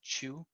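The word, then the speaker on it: Qiu: Mekong chew his last name is Qi you by the pronunciation is Chu and dr.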